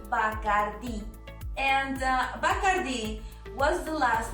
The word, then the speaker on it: Bacardí: Many people, when speaking English, do not accentuate the í, and that's why it sounds like bacárdi, but it is not bacárdi, it is Bacardí.